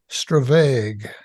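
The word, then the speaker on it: stravaig: And I just ask you how it's pronounced, and I think you said it's Stravag.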